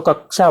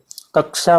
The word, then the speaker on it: कक्षा: से नहीं कर पाते इसका जो है प्रनंसीएशन होना चाहिए शाह की तरह जैसे कक्षा बोलना है आपको तो कक्षा बोलेंगे कक्षा बोलेंगे ठीक है इस तरह से